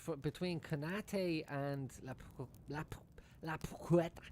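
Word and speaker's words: Paquetá: It's between Kanate and La Puqueta. How do you say it, Urbano? La Puqueta. La Paqueta. La Paqueta.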